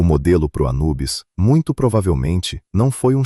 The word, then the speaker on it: Anubis: O próprio deus, aliás, os egípcios chamavam de ampu ou impu. Anubes já é a forma grega de pronunciar o nome dele.